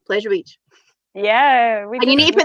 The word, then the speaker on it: Pleasure Beach: You go Pleasure Beach. You over enunciate the beach part, so it's like Pleasure Beach. Whereas we're all just like Pleasure Beach.